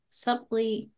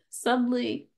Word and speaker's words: subtly: The subtly. Well, why is there a B in there? Because it's the English language. Yeah. Okay. This subtly.